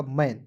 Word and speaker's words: mane: में करेंगे, हो जाएगा मैन। ठीक है, मैन हो गया, लेकिन अंतिम में ई रहता तो इसे पढ़ते मेन, MANE को पढ़ते मेन पढ़ते।